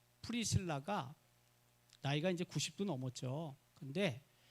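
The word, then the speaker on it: Priscilla: 그 오월본 선교사님의 손녀, 우리는 브리스길라라고 발음을 하는데 프리실라인데 영어 원래 발음은.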